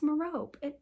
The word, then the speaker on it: Merope: And then I think this is his mom, Merope. I'm blanking on her name. My Harry Potter knowledge is failing me. No, it's Merope. Why does that sound weird? Merope.